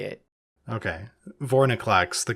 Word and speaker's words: Vorinclex: Vorinclex, the correct way to pronounce that name.